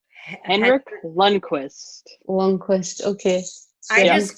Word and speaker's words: Henrik Lundqvist: the Rangers goalie, but I have no idea how to pronounce his name. Henrik Lundqvist.